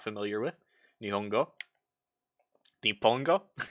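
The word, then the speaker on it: 日本: with nihongo di pongo i always pronounce that because like i don't know when i learn japanese i like the kanji is typically pronounced hong so whenever i see what most people would call nippon in my head i read it as nihon i mean you can say nihon it's just a little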